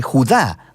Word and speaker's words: Judá: carta de Judas o más precisamente Judá de acuerdo con la pronunciación de su nombre tanto en griego como en hebreo Judá Era uno de los